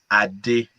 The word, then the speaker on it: Adi: ain't doing it so the right pronunciation is adi jesus help me i did it so here's the thing this is what i tell people when you try to say my name don't try to be an african don't drop down just say it yeah i did like